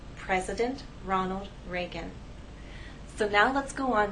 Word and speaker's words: Ronald Reagan: it will help us with pronunciation the correct pronunciation is President Ronald Reagan we have ours here and here if I